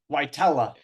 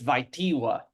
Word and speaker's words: Wajtola: Yeah, so I pronounce it, call it the not correct way. Technically, I'm told it's Wajtiwa, but you know, we merged it a little bit. Wajtola.